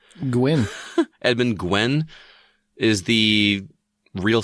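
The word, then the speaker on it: Gwenn: As much as I like Tim Allen, I still think that Edmund, how do you pronounce his name? Gwynn.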